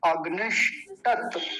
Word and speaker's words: अग्निष्टत: बीच में मूर्धन्य शकार हलंत है, ये देखिए, ये वाला जो है ये आधा बना हुआ है, तो इसका उच्चारण बड़े ध्यान से करना चाहिए मूर्धा से।